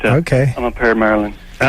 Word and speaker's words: Maryland: And I remember the guys say, yeah, Merlin. It's like Merlin the magician. That's how you say it. That's right, Maryland, yeah.